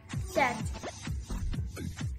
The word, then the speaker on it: debt: B is usually not pronounced before T at the end of word, like debt, doubt, debtor, doubtful, subtle.